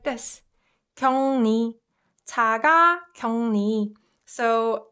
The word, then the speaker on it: 자가격리: And the way I pronounced it, if you noticed, is 자가격리. So uk and 르, 응. If you pronounce it fast, this uk also softens to ung sound.